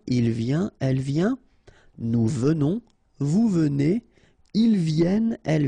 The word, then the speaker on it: venons: Okay, so final S not pronounced, and then remember that you pronounce this like a the, venons. Okay, O-N in your nose, on, venons.